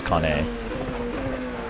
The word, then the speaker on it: Mazzacane: Second one is correct. Okay. So it's Kane.